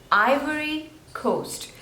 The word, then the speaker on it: Ivory Coast: China China next is Ivory Coast so Ivory there are three slables and the stress is on the first one I worry ivory Ivory